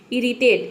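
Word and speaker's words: irritate: होता है ठीक है अब देखिए यहां पे इरिटेट इसमें भी देखिए आई के बाद आर आया है लेकिन हम यहां पे आई को अ नहीं प्रोनाउंस कर रहे यहां पे आई को हम क्या प्रोनाउंस कर रहे ई प्रोनाउंस कर रहे हैं ठीक है ई इरिटेट इरिटेट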